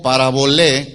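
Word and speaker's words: parabolé: una palabra del griego para voler con acento en la e que significa simple y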